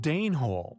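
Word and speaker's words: Dene hole: Danhole yet pronounced Dnehhole after the Danes.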